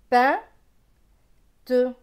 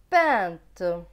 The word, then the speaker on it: peinte: P avec EIN, EIN c'est un, P et un, pain. T et E, te. Donc ce mot va se lire peinte, peinte.